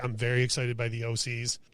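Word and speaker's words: Thee Oh Sees: I don't even know if you're supposed to say it that way or the OC. Okay, it's the OCs. Yeah. Okay, and it's spelled odd. Yeah, it's like it's spelled the and then OH and then SEES. And the is THEE.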